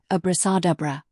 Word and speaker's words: abracadabra: It is generally agreed that the word was properly pronounced abrasadabra.